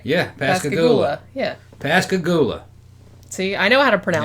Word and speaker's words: Pascagoula: know I where it pronounced it right? Yeah, Pascagoula.